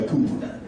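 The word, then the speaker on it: Kuiper: He spells his name K-U-I-P-E-R. How do you pronounce it? K-U-I-P-E-R. Second vowel, right? No, he goes by Cooper.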